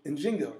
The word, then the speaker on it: Njinga: fight against slavery was Queen njinga nzinga right um and and I'm not sure the I've heard the both pronunciations so I say them both um what you saw